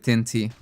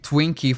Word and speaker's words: Tinty: I called him Twinkie for three days in a row, and just as I was giving up on pronouncing his name correctly, I finally got it. And it was Tinty.